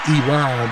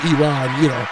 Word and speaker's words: Iran: I don't like to say Iran, but Iran, that's it. Well, that's how you pronounce it. There you go. Not Iran, but Iran, right?